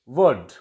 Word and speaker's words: would: And next is would. L is silent before D.